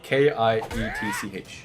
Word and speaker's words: kitsch: I mean, I feel like I think it's pronounced kitsch, not quiche. I'm not really sure. I call it niche if that's what you're no, talking about. Kietch. Like a quiche.